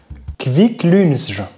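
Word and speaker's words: Kvikk Lunsj: Et comment ça se prononce ce truc là? Alors ouais, Kviklunsj.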